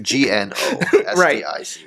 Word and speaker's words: Gnostic: You spell it with a G, actually. Gnostic.